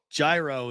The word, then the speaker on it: gyro: The G is silent.